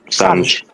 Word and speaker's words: Sanj: Sorry if is that pronouncing your name correct? Saj? Is it Sanj? Sanj. Yeah.